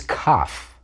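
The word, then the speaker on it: כ: With a dagesh, Kaf is pronounced like K. Without a dagesh, it's the same sound as Het, a guttural ch sound.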